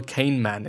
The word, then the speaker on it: Kahneman: good one by Daniel Kahneman. It is Daniel, like Daniel, and Kahnemann, or Kahneman, as if you would be pronouncing it in German, actually.